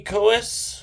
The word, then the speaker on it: Coeus: so um the first one is a kubi koas uh could be a spell k-u-b-e-y cohes is spelled c-o-e-u-s um so I have never um